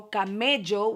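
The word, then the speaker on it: Camello: the damn palette and it's 2 L's and in Spanish 2 L L's are pronounced like a j j so kameo which in turn is a camel in Spanish yes baby you know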